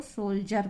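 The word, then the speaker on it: soldier: है, तो हम उसको सोल्जर पढ़ रहे हैं। तो आपको ये ध्यान रखना है, डी के बाद आई ई आर आएगा तो डी का उच्चारण जा हो जाएगा।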